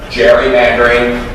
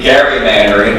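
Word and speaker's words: gerrymander: way I told somebody this earlier the term Jerry Mandarin first of all it's in accurate second of all it's mispronounced it would be Gary Mandarin because it's elri Gary who they named it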